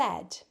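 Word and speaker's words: hmm: + y = z h then what does x - y equal you pronounce h by breathing out through your nose and keeping your mouth closed h m m is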